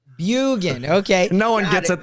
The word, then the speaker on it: Bjugan: Am I saying it right, Bjugan? It's Norwegian. Drop the J. Bjugan. Bjugan.